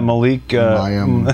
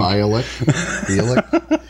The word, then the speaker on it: Bialik: Yeah, Malik. I said Malik. Bialik.